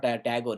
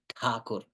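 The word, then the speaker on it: Thakur: rindra takur rabindra takur we call him RAB tagur it's not tagur it's takur so rabindra takur he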